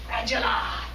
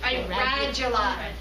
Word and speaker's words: radula: comes this tooth-covered tongue, which is called a radula. All right? So, a radula. Can you All spell it? right. I can't see. R-A-D-U-L-A.